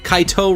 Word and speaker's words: Kaito: my bro bro kids Kaito rhymes with my bro we're gonna spend the